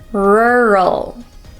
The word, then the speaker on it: rural: seven is the word rural now this word is even difficult for native English speakers so this word is full of RS and L's which are very difficult for many Japanese people to pronounce so let's break